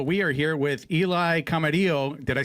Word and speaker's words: Camarilo: We are here with Eli Camarillo.